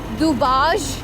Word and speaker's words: Dubazh: Okay, we are crossing this beautiful bridge, इसको दुबाज bridge कहते हैं। DUBAZH इसके ZH एक्चुअली इसके स्पेलिंग है।